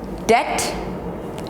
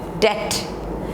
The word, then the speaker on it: debt: This is doubt, debt, debt, and this is subtle, subtle, subtle, not subtle, subtle.